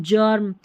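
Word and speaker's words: germ: वेगर नहीं Vaser, stranger, गर्म नहीं जर्म, यहाँ पर जायंट, ठीक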